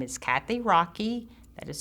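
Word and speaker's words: Rachui: Thank You Les okay my name is Kathy Rocky that is spelled r a c h UI I'm the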